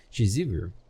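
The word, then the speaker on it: Shizuru: And why did none of them warn me that the name of the goddess is actually spelled and pronounced Chizuru?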